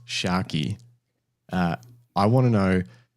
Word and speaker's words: Tscharke: I I noticed on your um about page that you've got um you know pronounced Shaki.